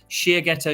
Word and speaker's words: Shiageto: and my company is called Shear ghetto okay Shia ghetto is the Japanese word for a sharpening stone